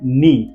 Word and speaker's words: knee: इसको कनी नहीं बोल सकते, हम डायरेक्ट बोलना है नी, KNEE, नी।